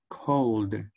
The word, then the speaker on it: called: So, the pronunciation of the ed will be a d. Called.